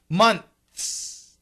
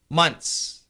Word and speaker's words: months: your life much easier if you need to say that word months the same thing m o n TS here the th is an aspirated not vibrated so month mon but notice we have the N THS the n and the S are really strong the th is weak so we can cancel the th months I've studied English for